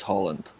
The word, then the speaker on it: Haaland: Haaland. Get it right. Yeah. Haaland. His name, Yes. Luca, there's no need for that. He did pronounce his name correctly. It is Holland.